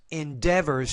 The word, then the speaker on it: endeavors: want see there Endeavors Endeavors stresses on the second syllable the STS 95 Mission